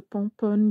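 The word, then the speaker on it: Pomponne: Actually, it's called Pompon. It's spelled P-O-M-P-O-N-N-E, Pomponi in English, but it's French.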